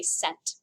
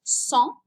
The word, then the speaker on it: cent: you look at it you want to say sent because that's what it looks like in english but class it's pronounced song channel your inner french